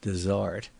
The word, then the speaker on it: dessert: almost every table has its dessert invariably pronounced Dart which is placed on